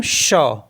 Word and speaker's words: chat: For example CHAT, तो इसको पढ़ते हम शा। शा। शा मीन्स होता है कैट, तो क्योंकि जो T है लास्ट में वो साइलेंट होता है तो CHA बचा है केवल, तो CHA को पढ़ते हैं शा।